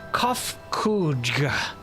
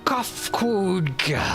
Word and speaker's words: Kofkudga: As for nomenclature to address my individual person, I believe it would be pronounced Kofkudga. Yes, Kofkudga of the air.